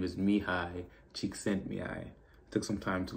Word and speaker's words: Csikszentmihalyi: His name is Mihai Csikszentmihalyi.